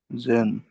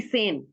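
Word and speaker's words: zehn: जेन, तो फिर जेन नहीं, सेन, सेन, सेन, सेन।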